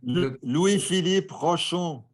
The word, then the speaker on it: Louis-Philippe Rochon: the next week, I don't know how to pronounce his name. You're a French speaker, maybe you can. Louis-Philippe Rochon.